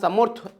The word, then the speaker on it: সমর্থ: তো এখানে তোমরা যদি সমর্থডবিov.in অনেকে এটা কে অন্য ল্যাঙ্গুয়েজ ইউজ করছো সম্রাট সম্রাট কিন্তু না। সম্রাট বলতে পারি তোমার বা সমর্থ উচ্চারণটা হয়।